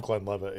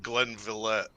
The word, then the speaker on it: Glenlivet: love Glenlivet, yeah. Yeah. But It's not pronounced Glenvillette. Glenlivet, whatever. So if you look at it, this is going to be hard to see.